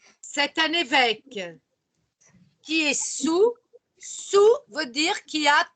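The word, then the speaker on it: saoul: Il répète, il est sous. Ah, vous remarquez phonétiquement que je ne prononce pas le A, je ne prononce pas le L, ça fait sous.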